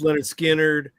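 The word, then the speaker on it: Lynyrd Skynyrd: But as I'm researching Fuller, I've got coming up uh also a T for the Tillerman from Cat Stevens, pronounced Leonard Skannard, uh American Beauty from Grateful Dead, um Astral Weeks from Van Morris.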